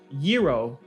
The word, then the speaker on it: gyro: was oh do rapping this man pronounced gyro gyro gyro and Papa Christo corrected him it was like no was a gyro don't say don't say you know gyros yeah there's no G in Greek language so he said a